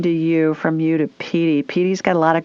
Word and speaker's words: Petey: She's a Jack Russell Terrier, and her name is Petey. P-E-D-E-E, or how do you spell it? No, P-E-E-T-I-E. Oh, Petey, like Pete. Okay, Petey.